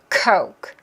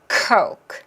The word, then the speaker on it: coke: 코 그 뒤에 크는 나만 들린다는 생각으로 하는 거예요. coke coke. 그래서 입모양에 트지션이 있는지 거울 보면서 확인하세요.